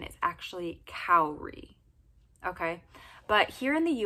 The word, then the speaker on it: Kaori: It's almost like the structure of the name Naomi. It's got the same vowel combinations, which is my favorite thing about the name Naomi.